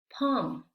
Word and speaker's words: palm: Aquí la L no se pronuncia, ¿sí? Vamos a ver cómo pronunciamos estas palabras. Talk, walk, should, could, have, palm.